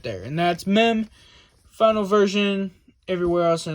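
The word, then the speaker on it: מ: right and this one is mem all right horizontal upside down U with a little bit of a line right there to the top left okay that's mem it also has it makes the M sound it also has a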